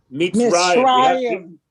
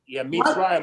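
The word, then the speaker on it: מצרים: Mitzrayim. Mitzrayim.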